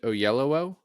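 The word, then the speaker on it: Oyelowo: and by the way apparently it's pronounced David O Yello okay so sorry about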